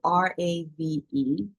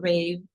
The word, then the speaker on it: RAV: Ro what ra calls the Rob the it's it's spelled r a v Rob he was from IA but he was